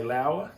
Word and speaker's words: Laowa: Laowa lens, I hope that's the way you pronounce it. L-O-A-W-A, I say Laowa.